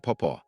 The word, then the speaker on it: Papa: My nieces and nephews call them Mama and Papa, pronounced like Momaw and Popaw, not Mama.